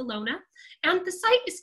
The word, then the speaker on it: Lone: In German, you pronounce all of the letters, so it's the Lone.